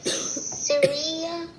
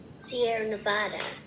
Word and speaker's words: Sierra Nevada: The Syria. Oh, read the pronunciation key. It tells you how to pronounce that whole thing. Sierra Nevada.